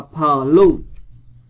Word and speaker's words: pollute: Rồi, bây giờ qua câu số 2, các bạn đọc là pollute, vần 2.